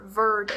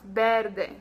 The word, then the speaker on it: verde: Our color green is verde. Okay, so we don't have any E sounds like verde. No, it's verde.